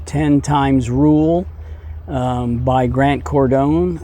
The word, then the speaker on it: Cardone: times rule by Grant Cardone I think cordone is a proper pronunciation um it's 240 Pages hardback it was written in 2012.